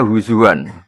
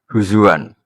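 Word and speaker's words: هُزُوًا: Tapi Imam Asim di masdarnya bacanya huzuan ya. Imam Asim bacanya di masdarnya huzuan. Kafaah juga bacanya beliau kufuan.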